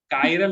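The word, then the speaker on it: chiral: चिराल है ही नहीं वो. चिराल नहीं है वो. चिराल क्या है वो? चिराल नहीं है, कायरल है, कायरल.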